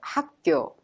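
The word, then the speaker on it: 학교: and turns into a strong tension sound thereby pronounced hakkyo good job at this time we will take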